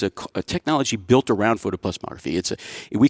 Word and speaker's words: photoplethysmography: It's photoplethysmography, and I didn't even pronounce it right. That's fancy. They got like an extra syllable that I always drop off with my southern lazy lip. It's photoplethysmography, and people, you know,